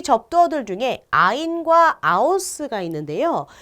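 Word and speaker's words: aus: 아우스는 밖으로 란 뜻이에요. 영어의 out과 발음이 비슷하죠. 아우스.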